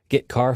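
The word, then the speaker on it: getchar: character io functions are get car and put car that's how I pronounce them get car fetches a character from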